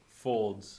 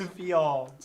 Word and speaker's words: Fields: Oh, you pronounced it like he typed it. Folds. Who's getting Folds? Fields.